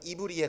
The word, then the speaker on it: 히브리: 발음은 이브리에 가깝습니다.